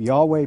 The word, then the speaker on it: Yahweh: main God who has a name Yahweh pronounced something like your way but they also worshiped